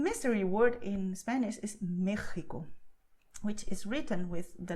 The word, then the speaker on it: México: with the letter X, the sound is not X like taxi, okay? It's a special word. So if you go to Mexico, never say Mexico, because okay, people won't throw stones at you. That won't happen, okay? Don't worry about that. But if you want to sound more knowing of Spanish, well, when you go to Mexico, just say Mexico, okay?